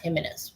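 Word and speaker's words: Jiménez: It's pronounced Jimenez, H-I-M.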